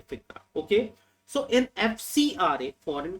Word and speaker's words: FCRA: But in FICRA, that is Foreign Contribution and Regulation Act, I am pronouncing it as FCRA, FICRA.